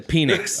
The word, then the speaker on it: Penix: He changed the pronunciation. To what, Chris? To Penix.